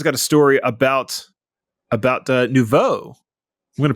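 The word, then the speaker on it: nouveau: Uh Jeff has got a story about about Nuvo. I'm going to pronounce it right because apparently it's insulting when I call it no view uh on on Nvidia hardware.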